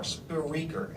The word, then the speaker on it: Spreaker: It's speaker with an R, Spreaker, Spreaker, Spreaker, yeah.